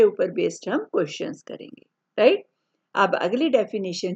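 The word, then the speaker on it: rho: हम क्या बोलते हैं रो आर एओ एट साइलेंट होता है बोलते हु इट कॉल्ड रो तो रेडियस ऑफ कर्वेचर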